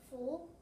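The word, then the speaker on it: 福: This word means good luck and is pronounced full.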